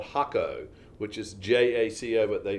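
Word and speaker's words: Jacó: and so we were in a place called hakko which is j-a-c-o but they pronounced it hakko and um it's famous for surf okay and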